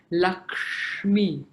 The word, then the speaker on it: Lakshmi: we also have the three conjunct consonants, which are ksha, so which is a pronunciation of ka plus the murdha sound. So ksha, so Lakshmi. And then you have tra, not tra, so mantra.